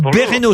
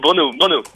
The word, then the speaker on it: Brno: Ou Bereno, je sais pas comment je dois prononcer. Non, c'est Brno.